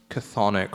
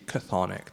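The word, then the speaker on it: chthonic: idea of Earth forces cathic forces and this is spelled from the Greek CH h t h n i c cathic the Earth forces when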